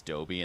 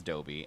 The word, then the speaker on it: Dobby: I'm I'm pretty sure for absolute years as a kid I read it as Doby in the book and then or I was oh no I'm pretty sure it was our fourth grade teacher whenever she read them out loud she read it as Dobby and so that's what